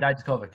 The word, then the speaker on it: Dijakovic: If he is getting called up, Dominic Dijakovic, is that how you pronounce his last name? Dijakovic, yep.